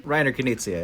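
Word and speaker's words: Rainer Knizia: movie came from uh rainer kinicia is that he's pronounced his name reiner kenicia yeah writer reiner connicia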